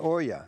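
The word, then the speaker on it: olla: talking about this is an oya it's spelled o-l-l-a and this thing when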